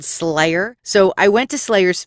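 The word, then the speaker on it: Sleigher: a Krampus band called Slayer so I went to Slayers Facebook page their band name is spelled like Santa's sleigh SLE IgH er they're pictured wearing the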